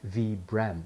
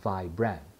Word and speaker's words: Vibram: in 1937 by Italian climber Vitali brahmani hence pronounced V brem not vibran moving on up the next layer is a